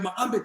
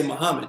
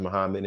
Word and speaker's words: Muhammad: i said mohammed sir and he told me it's pronounced moved back here and the accent is on the second syllable and i went away